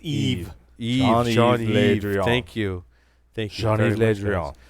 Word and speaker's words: Yves: we're French it's horrible how do you say ye-es and French Yves Jean Yves no silent its Eve thank you thanks ray